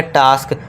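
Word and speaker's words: task: अब ए एस के लिए हमने अभी सीखा बड़ा आ। तो यहां पे हो जाएगा आ बड़े वाले आ का साउंड हमने यहां लिख दिया।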